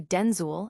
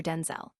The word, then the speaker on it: Denzel: My mom would say Denzul and we'd both show up. So she said, "From now on, you're Denzel."